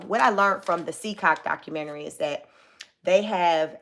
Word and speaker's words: CECOT: It's spelled CECOT, all capital letters, CCOT. I don't know if it's an acronym for something, but they call it CCOT.